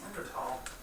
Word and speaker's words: Neanderthal: Are you just saying that because you're not pronouncing the H? Or because you're suggesting that the H isn't there? I mean, it's spelled T-H-A-L, but I think it's pronounced.